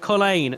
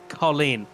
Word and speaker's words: Colleen: And we've also been told as well it's pronounced Colleen, not Colin.